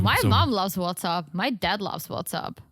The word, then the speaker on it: WhatsApp: app yeah yeah but i know but it's pronounced what's up what's up i don't normally correct you but